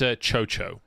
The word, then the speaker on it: Chocho: The TT support is pronounced... It's Chocho. Like CHO.